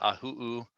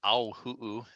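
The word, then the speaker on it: ʻāhuhu: So that's the ahu'u or auhu'u. It's got a couple different pronunciations.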